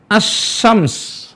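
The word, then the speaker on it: الشمس: Makanya dibacanya dengan asy-syams. Ya, seolah-olah, ya, seolah-olah lam itu enggak ada. Jadi cara bacanya seperti ini. Asy-syams. Nah, seolah-olah bacanya seperti ini. Asy-syamsu. Mana suara lamnya enggak muncul.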